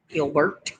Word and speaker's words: Gilbert: Because that's the way we say it. We say it two big old syllables. Gil and Bert. Gilbert.